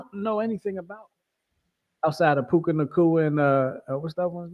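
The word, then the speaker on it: Nacua: just keep saying Puka Kanua. I think when I do get my dog, that's gonna be the dog's name, Puka Kanua. Nakua.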